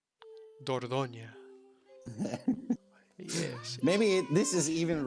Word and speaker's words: Dordogne: you would pronounce it Dordogne. Dordogne.